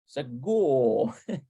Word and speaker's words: סגור: Segul. And it melds into the whole hymn. Segul. סגור. Segul. סגור. You know, in English, the R sound, you really is pronounced.